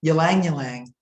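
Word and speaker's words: ylang-ylang: the next one is ylang ylang of which took me about five years to learn how to pronounce properly it's a tongue twister ylang ylang it's deeply relaxing and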